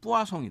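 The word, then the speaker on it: Poisson: 포화송이라고 해서 영문으로 배웠는데 사실은이 학자는 프랑스 학자예요 그래서 프랑스어로 발음을 하면 뿌아 성이 돼요 그래서 지금도 통계학책에는 포화송이라고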